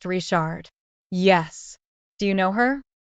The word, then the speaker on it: Richard: with in cjun country Richard is pronounced rishard yes do you know